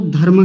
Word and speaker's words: धर्म: रही होती है, तो व्यक्ति एक गलत प्रोनाउंसिएशन करते हैं, गलत उच्चारण बोलते हैं, और वो क्या कहते हैं, शब्द को धर्म बोलते हैं।